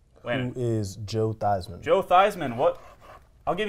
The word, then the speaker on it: Theismann: changes 4,000 this name didn't change in spelling but rather how you say it as part of this man's Heisman Trophy campaign when is Joe Theismann Joe Theismann what I'll